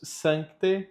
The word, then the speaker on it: Sancte: Atenção, aqui tem um C, esse C não é mudo, tá? Ele precisa ser dito, ele precisa estar na pronúncia. Então a pronúncia fica Spiritus Sancte Deus, Spiritus Sancte Deus, miserere nobis.